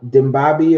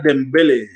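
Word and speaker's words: Dembélé: They also have Usman Dimbabi or whatever you pronounce that. Oh, Osama Dembele.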